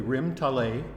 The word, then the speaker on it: Rim Talay: of all I want to thank you for pronouncing the name correctly rim tal a is actually tie for by the sea okay